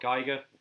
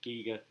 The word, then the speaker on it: Giger: I'm really sorry artists HR Giger Giga pending on how you pronounce that he designed the alien